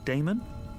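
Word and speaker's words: Daemon: e m o n how do you you pronounce that Damon if you prefer and this address I guess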